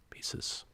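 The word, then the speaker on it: Poisses: It's titled by the name of the place, Pieces, but it's spelled P-O-I-S-S-E-S, Pieces.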